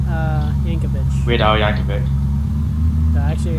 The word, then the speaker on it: Yankovic: cuz look at weird y uh Yankovic we Yankovic that actually how you pronounce it yeah oh so no one actually